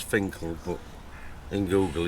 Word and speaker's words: Finchale: if you put in Google Finchale Abbey, it's pronounced as Finkel, but in Google it's Finchale Abbey.